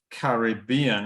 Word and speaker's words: Caribbean: a word uh like Caribbean in British English right okay so we use these little blocks uh so the first two syllables and not stressed then you get the third syllable which is stressed huh why not carry